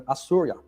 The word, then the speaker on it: Osiris: They didn't pronounce it Osiris. They called him Assurya, the son.